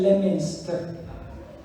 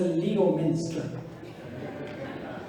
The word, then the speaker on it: Leominster: ¿Por qué dicen Leominster cuando debe ser Leominster? Y peor todavía, Worcester cuando dice Worcester.